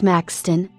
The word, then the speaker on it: Maxthon: latest 5.15 on 9:06 Maxthon formerly my a2 pronounced Maxton abbreviated as MX officially